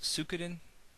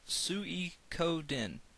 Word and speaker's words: Suikoden: for the longest time I thought it was soo couldnt but apparently it's pronounced tsui code in and that is an incredibly uncomfortable word to